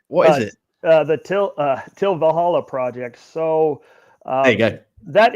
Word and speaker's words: Til Valhalla Project: The Til Valhalla Project.